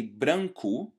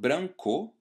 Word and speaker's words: branco: So exactly like the O at the end of a word, which is pronounced as a U sound, so I say branco instead of branco, the E letter at